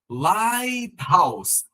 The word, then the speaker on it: lighthouse: Lighthouse, lighthouse, como é uma junção de duas palavras, também não vai ter a pronúncia do TH, da mesma forma como rat hole, Thailand e close.